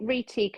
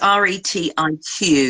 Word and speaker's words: Retique: So I wonder if this, if, do you spell it Reteak as in Teak, as in teak wood? Do you think? No, No. it's Retique. Ah, right. Okay, so it's like technique, isn't it?